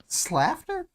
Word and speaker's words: Slaughter: us to think yeah actually pronounced laughter slafter yeah like laughter yeah SLA laughter um as far as